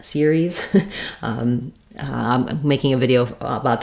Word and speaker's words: Ceres: So yes, in the word series, which actually, by the way, is the planet name or the dwarf planet Ceres.